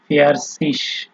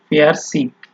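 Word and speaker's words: fertig: যেমন ফেয়ারসিস, যদি স ধরেন আপনি, তাহলে এটা বলা যায় ফেয়ারসিস, অথবা ফেয়ারসিক, গ উচ্চারণ করে বলতে পারেন।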